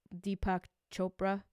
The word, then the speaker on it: Deepak Chopra: funny because I was a little leery because Deepak Chopra that's how you say it is is the